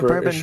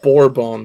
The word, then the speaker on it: Bourbon: This you get for a bourbon. Of course I did. It's borbon, not bourbon. Bourbon's the drink.